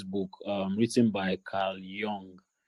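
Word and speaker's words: Jung: um written by car Yong is it Jong I usually call it y because they J pronounce it why so car I think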